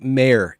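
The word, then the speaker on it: Mayr: just want to really make sure that i pronounce her name correctly yeah chrissy mayer m-a-y-r she is a kind of a cherry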